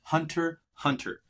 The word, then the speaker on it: Hunter x Hunter: Mind you, it is Hunter x Hunter. Yes, there is an X, but it's pronounced Hunter x Hunter.